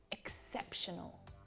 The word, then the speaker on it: exceptional: Exceptional. Say it with me. Exceptional. Notice where the stress is there on the second syllable.